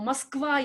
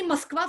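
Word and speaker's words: Москва: Moskva you know. Now if you used to pronounce Moscow as Moscow, say Moskva from now on.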